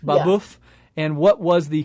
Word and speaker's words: Babeuf: Babeuf. Babeuf. Yeah. And what was the conspiracy of equals? Yeah, so for people who've never heard of him before, Gratius or Francois Noël Babeuf, which was his real name, he's primarily known